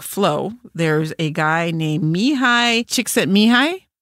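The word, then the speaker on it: Csikszentmihalyi: there's a guy named Mii chicks at mihi and I can only say that because I wrote it out phonetically with chick sent Mei such an unusual name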